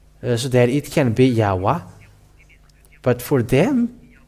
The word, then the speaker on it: Yahweh: If they put A here in the Yah, and they should put also A at the end so that it can be Yahweh. They should call Yahweh, and they should not stop at Yahoo.